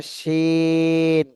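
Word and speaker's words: شين: এরপরে শিন, একই জায়গা থেকে তিন আলিফ টান দিতে হবে।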